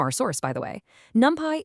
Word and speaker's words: NumPy: Fun fact from our source, by the way, NumPy is sometimes jokingly mispronounced as numpty, which is actually British slang for an idiot.